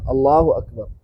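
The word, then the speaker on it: الله أكبر: Allahu Akbar. Nah, enggak boleh panjang A-nya. Allahu Akbar. Gak boleh. Karena menambah hamzah. Berarti niatnya kita kan memuji Allah. Allahu Akbar.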